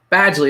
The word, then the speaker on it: Badgley: It's Badgley, there we go.